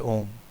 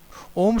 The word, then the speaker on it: ओम: उसके अर्थ को जाने ओम शब्द तीन ध्वनियों से बना है अ उ और म इन तीन शब्द वाले शब्द की महिमा अपरंपार है इन तीनों ध्वनियों को को मिलाने पर सही ओम का उच्चारण होता है अ का मतलब है